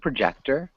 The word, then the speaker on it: projector: really good project er it's almost got an er sound at the end instead of an or sound can you repeat projector yeah yeah perfect nice